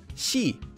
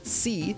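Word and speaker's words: 시: For example, this syllable is pronounced she and not c like in English.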